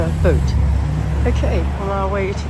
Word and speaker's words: Boot: do a boat show it's spelled b-o-o-t but boat okay on our way